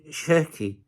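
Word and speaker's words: Cherki: The surname Sheri is pronounced Sheri where the SH sounds like sh in she and the I go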